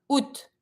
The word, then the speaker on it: août: Then we have la fête de l'indépendance du Québec, le 15 août. Août is August. Careful pronunciation. Don't pronounce the A in this one, but you're going to pronounce the rest.